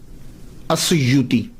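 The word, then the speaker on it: أسيوط: तो वो कहते हैं असयूत अलिफ के ऊपर ज़ के ऊपर पेश या के ऊपर पेश वाऊ साकिन सुयूत तो जब ये चल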